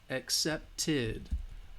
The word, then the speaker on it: accepted: a T so again if it's a T sound then the Edie accepted accepted will have that ed sound that is what you